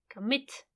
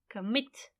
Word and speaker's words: commit: is on which syllable commit commit it's on the last syllable when it is on